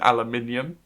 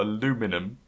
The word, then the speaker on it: aluminium: and by the way if we mentioned aluminium it is a man we arrived stupidly cool aluminum yeah because you don't realize the letter missing in the way you spell it but yeah oh that's